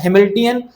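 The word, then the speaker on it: Hamiltonian: क्या होता है इसको, क्या बोलते हैं इसका नाम, क्या होता है, हैमिल्टनियन इसकी स्पेलिंग क्या है, हैमिल्टोनियन है बेटा नाम।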